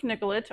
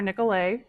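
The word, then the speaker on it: Nicollet: so um so Joseph nicholet or nicolay if you want to go with the French um pronunciation was the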